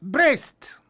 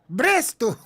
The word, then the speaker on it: Brest: The name of that team was Brest. Bresto. It is spelled B-R-E-S-T, Brest.